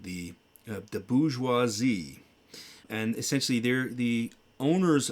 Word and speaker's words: bourgeoisie: Yeah, but it's pronounced bourgeoisie.